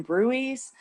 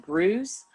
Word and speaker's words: bruise: And you will note on my recording, I called them bruies, and I found out after I recorded it, I don't think that's the way it's pronounced. I think I should have said bruise, like a brew.